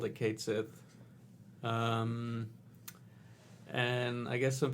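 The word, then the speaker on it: Cait Sith: uh in this game is going to be pronounced as Kate Sith yeah it looks like Kate Sith I'm pretty sure anyone in America who ever played The Originals called the Kate Sith um and I guess some people are mad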